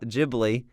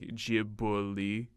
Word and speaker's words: Ghibli: I think in Japanese it's like Ghibli. I think it's something like that, so that's why I pronounce it Ghibli.